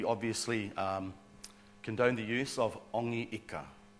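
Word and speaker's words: Hongi Hika: condoned the use of Ongi Ika, so that the H wasn't pronounced very, very well, yeah, maybe at all.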